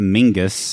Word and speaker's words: Menzies: stuff well he he says that Menzies is pronounced to Mingus yes apparently it's a um there's a an